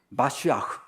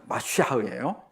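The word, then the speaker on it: מָשִׁיחַ: 잘 하기를 싫어했던 거 같아 그래서 메시지만 원래는 마쉬아흐 원래는 마쉬아흐요 근데 이것이이 히브리어를 헬라어로 번역할 때 크리스토스 번역했어요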